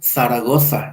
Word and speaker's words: Zaragoza: Zaragoza, ellos pronunciarán Zaragoza, ¿no? El nombre propio Cecilia pronunciarán Cecilia, que a nosotros nos causa un poco de gracia, pero es el sonido original, ellos todavía lo conservan.